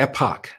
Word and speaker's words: Epoch: Now, I want you to switch over to epoch. I pronounce it epic, and I'm told to pronounce it epoch, E-P-O-C-H TV, because we've been shafted by YouTube, suppressed by YouTube.